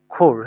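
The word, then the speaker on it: Chor: তারপরে যদি আমরা দেখি সে, সেভি সোর। সেভি, সোর, সোর বা খোর, হ্যাঁ এটার উচ্চারণটা এভাবে আসে।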